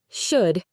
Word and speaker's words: should: Should. You only hear should.